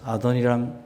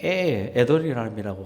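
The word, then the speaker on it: Adoniram: 아도니람 저더슨. 좀 어렵죠. 아도니람 저더슨입니다. R을 영어 발음하면 에도니람이라고 하는 사람도 있지만 어쨌든 저더슨이에요.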